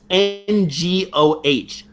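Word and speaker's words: 我: So that's N-G-O-H. Ngo. No. So that NG sound, for people who don't know, it's kind of in the not really in the back of your throat. It's almost in your nose.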